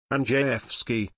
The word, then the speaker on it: Andrzejewski: Andrzejewski, pronounced Andrzejewski, noted that there are now 110 fewer White House employees since Obama left office, saving nearly $5 million alone.